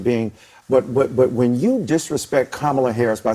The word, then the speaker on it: Kamala: Yeah, How do you pronounce it? It's Kamala. Like Kamala.